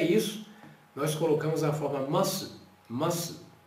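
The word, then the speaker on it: ます: E é isso, nós colocamos a forma masu, masu, que quando você pronuncia junto, você não pronuncia esse U, nome masu, esta forma está feita a conjugação aqui, ó.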